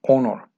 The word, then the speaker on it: honor: Obviamente, honor. Acuérdate que aquí no se pronuncia la H. Aquí sería honor.